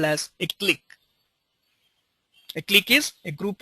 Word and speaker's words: clique: of nodes as a click okay the spelling is C qu and it is spelled as click okay so click is